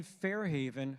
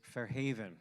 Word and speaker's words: Fair Haven: me for that is Fair Haven right with the accent on the on the second syllable all right so everybody